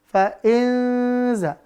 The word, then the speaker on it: fa'inza: Maka kalau begitu, bacanya jangan sampai tebal. Jangan fa'inzo. Jangan, dia bukan. Bukan huruf za, dan itu bukan zo juga gitu ya. Maka tipis. Fa'in, kita dengungkan. Fa'inza. Fa'inza ya. Fa'inza.